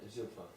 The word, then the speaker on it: Zilpah: Bilhah and Zilpah. Yes, you don't pronounce H at the end of those names.